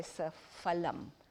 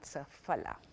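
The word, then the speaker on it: सफल: Hindi you would say sapalam, the F sound, but in Sanskrit there is no F sound. That that F is actually pronounced P. So it's sapala, not saphala.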